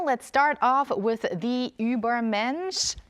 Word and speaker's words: Übermensch: Walter Lee Walter let's start off with the Uber mench G Dragon okay so make sure I pronounce it right Uber MCH right good job yes so yes it's the